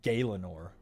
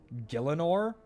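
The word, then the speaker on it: Gielinor: I don't think that's how you pronounce it. Wait, it's How would you pronounce it? I've always said Galenor. G I E L I N O R. Gillanor.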